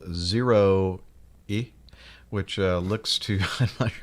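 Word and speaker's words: ZEROe: airbus zero zero concept aircraft how would you pronounce that zero e zero e ah okay very clever although you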